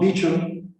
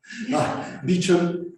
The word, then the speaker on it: Beauchamp: uh emphasis uh tom beacham and that's it's pronounced beecham not beauchamp and james childress developed